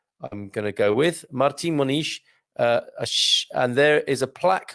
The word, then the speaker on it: Martim Moniz: is okay so marti you're going to pronounce the m as an n and you're going to pronounce the dead i'm going to go with martin monish and there is a